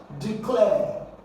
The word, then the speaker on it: declare: So here you're going to stress the second syllable. You have DE and then you have clear.